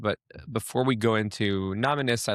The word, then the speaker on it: Nominis: So, Sneer Levy, CEO and founder of Nominees. Did I pronounce that right? Is it Nominees or Nominus? It's Nominus.